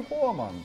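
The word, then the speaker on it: Voormann: い、もう VOOR って書いてフォアって読むってことは、これ英語ではないですね、ドイツですね。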